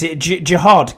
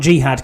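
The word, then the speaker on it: Jihaad: So, I got How do you pronounce this? Jiad Campbell. He did dab me up actually at the draft. So, not Jihad Campbell. That's a totally different thing.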